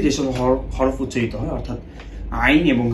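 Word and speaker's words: عين: তো প্রথমে আসি আইনের ক্ষেত্রে। আইন হরফটা যখন আমরা বলবো তখন একটু পুশ ব্যাক করো, আমাদের জিহ্বার এই অংশটাকে পুশ ব্যাক করতে হবে।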